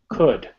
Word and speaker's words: could: speaking okay so cool could so look at wood see how wood is spelled could could yeah don't don't try to pronounce the l okay it's not so